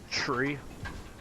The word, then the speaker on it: three: So 3 is said like tree. So 3 is said like tree.